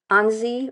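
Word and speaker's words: Annecy: used to pronounce it Ani which is totally wrong and we're embarrassed but um it's Anie or hesy gr go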